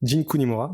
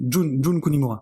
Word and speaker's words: Jun Kunimura: Moi j'allais surtout citer Jin Kunimura. Jun Kunimura. Ouais, On est bien sur les prononciations aujourd'hui, là on est chaud.